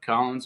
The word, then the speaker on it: Kollins: Is it Kollins? Is that how you say it? Yep, Kollins with a K.